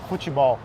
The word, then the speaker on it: futebol: Futebol. Whoa, that is also very different. How Futebol. How would you say? In Spanish is fútbol.